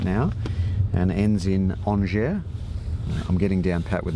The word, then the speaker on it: Angers: Well, you pronounce Angers very well, you know. But Thank you. Because most English-speaking people would say Angers.